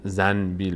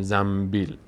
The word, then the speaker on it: زنبیل: نمیگیم انبر انبر میگیم نون به وقتی پشت سرم بیاد میم تلفظ میشه عین همین قاعده در